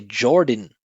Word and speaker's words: Jordan: And again, it's the unstressed syllable with the N at the end, so there's no vowel. We just say din, right? He said Jordan. We say Jordan, din.